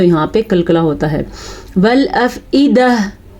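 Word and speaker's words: والأفئدة: والافئدہ, عیدہ کیا تو غلط ہو گیا, ایدہ حمزہ ہے تو حمزہ ہی پڑھنا ہے.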